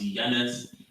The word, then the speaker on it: Janus: In ancient Roman religion and myth, Janus, pronounced Janus, is a god of beginnings, gates, transitions.